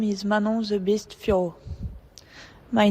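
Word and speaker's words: Fiorot: Let's get My name is Manon the Beast Fior. My name is Manon the Beast Fior. It's not Manon Firerot. Cody, hit that file once more if you would. My name is Manon the Beast Fior.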